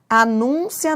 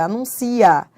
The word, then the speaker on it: anuncia: Anúncia não é anuncia, não é? Tudo bem. Se fosse anúncio, tudo bem, mas não é anúncio, é anuncia. Então, anuncia do verbo anunciar, ó, anuncia é uma paroxítona.